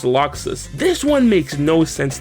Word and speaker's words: Laxus: which is actually pronounced luxus this one makes no sense to me how the am i supposed to know that lacks is supposed to be pronounced locks they should have just